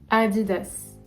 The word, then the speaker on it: Adidas: tout ok en 5 adidas adidas toute assez similaires je sais pas vous me direz adidas adidas je sais que c'est différent en anglais mais en france et